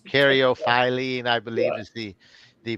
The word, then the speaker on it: caryophyllene: Or is that the one with multiple Yes, pronunciations? caryophyllene, I believe, Yeah. is the proper pronunciation, but to me, it will always be caryophyllene.